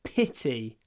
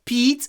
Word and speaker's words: pity: o o what a Pity pit pity it's not Pete it's pit it's really short pity what a Pity